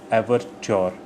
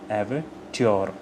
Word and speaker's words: overture: Pronunciation एवरच्योर, एवरच्योर, च्योर, एवरच्योर, TYO, च्योर, right.